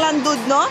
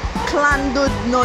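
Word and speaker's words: Llandudno: Tandang Landudno sa Wales. From Land ah from Landudno. Landod ah clandudno daw how to pronounce itung Landud no is clandud no. Double L is a Welsh pag L.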